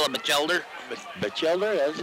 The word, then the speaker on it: Batchelder: We'll call him Batchelder.